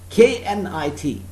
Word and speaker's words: knit: the spellings p-i-t pit k-n-i-t knit so remember k-sound is not spoken here don't run after the